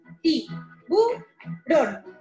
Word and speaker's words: tiburón: Por ejemplo, en la palabra tiburón, la sílaba tónica es la última. Ti-bu-ron.